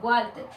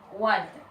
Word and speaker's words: Walter: Entonces, normalmente, siempre que en caso, digamos, de Walter, nosotros siempre lo decimos así, Walter, como si fuera una G y una U, así. Pero eso está mal, ¿ya? La verdadera pronunciación debe ser Walter, así.